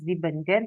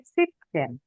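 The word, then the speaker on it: siebzehn: Adrian sudah eh seven or eh come aus dimaus there ya karena di tapi kalau 17 bacanya bukan zibenzen tapi sipzen yazen Nomor Adrian eh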